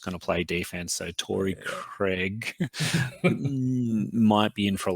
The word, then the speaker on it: Torrey Craig: If you're an American commentator, Craig. It's Torrey Craig, apparently.